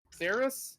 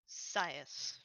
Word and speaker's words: Sias: Can I ask Saris? Am I getting that name right? No. Sias. Sias. Okay. Wrong pronunciation, right person.